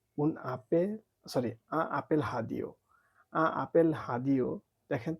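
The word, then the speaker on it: radio: sorry apple হাদিও apple হাদিও দেখেন তো এই বানানটা রেডিও দেখা যাচ্ছে না কিন্তু হ্যাঁ এটা রেডিও কিন্তু ফ্রেঞ্চে এটা উচ্চারণ হবে হাদিও আ আপেল হাদিও এটা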